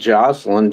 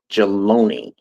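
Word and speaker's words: Jaloni: Or it ain't Joselyn. Jaloney. Jalon. Yeah, that's it. That's J A L O N I. Jaloney.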